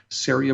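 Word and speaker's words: Ceria: you're you're absolutely right syria with a c c-e-r-i-a and uh pronounced uh it rhymes with aria syria brewing company and just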